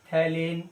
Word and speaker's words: phthalein: मतलब है थैलेन डाई, pH silent है बेटा, PHTHALEINE, थैलेन डाई।